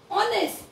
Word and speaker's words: honest: क्या स्पेलिंग लिखी है, देखो मैंने HONEST, ऑनेस्ट, इसको क्या पढ़ेंगे बच्चों हम लोग, ऑनेस्ट। तो ओ की साउंड आ रही है, ओ की साउंड आ